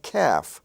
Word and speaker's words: calf: and Gulf you have calf and half they're spelled with LF but the L is not pronounced so you have calf a young calf half I have half